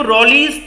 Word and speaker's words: Rolle: पढ़ पा रहे हैं, रॉल्स थ्योरम या इसको रॉलीज थ्योरम भी प्रोनाउंस किया जाता है।